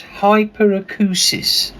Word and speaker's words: hyperacusis: but I know I'm going to what is hyperacusis perfect pronunciation oh thank you thank you I apprecially